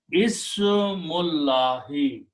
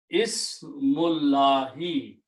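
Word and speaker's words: اسمُ اللهِ: And then we do not pronounce the alif in between and change this alif into a hamzatul wasl, a small swad. So it becomes Ismullahi. The word is Ismullahi, name of Allah.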